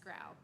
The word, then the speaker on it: Grow: It's a tricky one. It's pronounced grow.